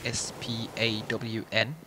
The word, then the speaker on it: Spawn: And that is how to pronounce S-P-A-W-N, Spawn.